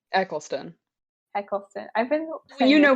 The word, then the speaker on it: Eccleston: nice how do you say his last name Eccleston Eccleston I've been you know him because of